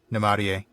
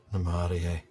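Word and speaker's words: Namárië: today I'd probably answer Namarie. Namarie. Yes, that is such a lovely word. Pure music. Yeah. It's only 7 letters, but there's 4 syllables in it, which is just kind of amazing to me.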